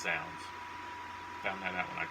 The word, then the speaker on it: Zounds: I ordered it from Zounds, which I thought was Z-Zounds, as we used to call it in the day, because it's the way it's spelled, but it's Zounds.